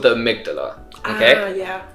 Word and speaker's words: amygdala: I like to call her Amy G. Amy G. Amy G. So you never forget, amygdala is Amy G.